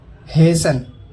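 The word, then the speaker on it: hasten: टी, अगर किसी शब्द के अंत में TEN हो तो टी साइलेंट होता है। एग्जाम्पल देखिए, हेसन, जल्दी करना।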